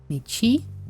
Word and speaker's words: мячи: The pronunciation for мячи should go m and ya, m plus ya, right? Y makes m soft and disappears. So the result is mi, a, right? in theory.